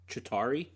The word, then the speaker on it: Chitauri: Chitauri.